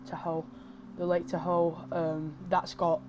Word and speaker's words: Tahoe: You don't have to, you won't really crash into anything, unlike like the lake, I don't know how to pronounce that, I'm going to just say Tahoe.